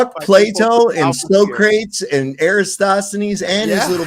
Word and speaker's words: Socrates: he signed it on there you can and so crates he he he signed his too what about copik it's pronounced Socrates you it's so crates can't you read s